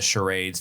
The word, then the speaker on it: charade: Like when they were doing the charades, there's antler frames on the fireplace that he's kind of in front of and stuff like that.